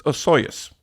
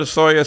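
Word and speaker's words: Osoyoos: who is it it's osus God help anybody who reads that and tries to pronounce it but because I've been there I know how to pronounce it it's ooas now apparently they want there's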